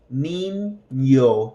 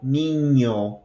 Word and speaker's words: niño: And then we have this, what's called the enye. If you can think of the first N in the word onion, ny, ny, that is the sound, onion. So, child or boy, niño, niño, has that ny, ny, ny sound. Niño. It's like onion, onion.